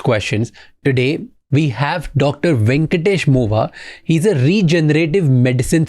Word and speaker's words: Venkatesh: Venkatesh Mova. Yes, That's sir. how I pronounce it?